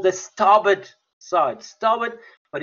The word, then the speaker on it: starboard: an aircraft it's called it's actually pronounced very differently to what it's spelled it's called the starboard side starwood but it's actually spelt